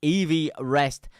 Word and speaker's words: Everest: 28,000 feet EV rest. That's proper pronunciation. EV rest is in Mount Everest. That's proper pronunciation because they named it after the guy who first measured it.